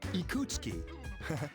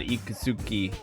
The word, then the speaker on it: Ikutsuki: Why would your name be Ikutsuki and not Ikusuki? Do you really pronounce his name Ikutsuki instead of Ikusuki? Ikusuki is so much easier to say.